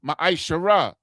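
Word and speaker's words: מעשר: And Malachi 3:es 8-10 means 10th in the Hebrew and is pronounced maishara.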